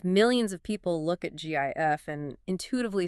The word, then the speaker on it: GIF: The inventor of the image format, Steve Wilhight, definitively stated on the record that it is pronounced GIF with a soft G like the peanut butter.